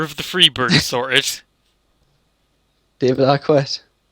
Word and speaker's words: Arquette: David Arquette. I don't know why you pronounce the Q in it.